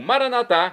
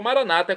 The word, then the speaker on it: Maranatá: Agora, do hebraico também, mais no caso aqui o aramaico, eu clamo Maranatá, como dizemos nós católicos, ou Maranata, como dizem nossos irmãos separados, os evangélicos ou protestantes. O significado é o mesmo nas duas pronúncias.